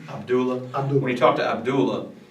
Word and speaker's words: Abdullah: Abdullah. Abdullah.